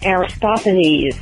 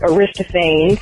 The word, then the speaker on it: Aristophanes: bread work on the pronunciations like Aristophanes not Arista fans plenty not fly knee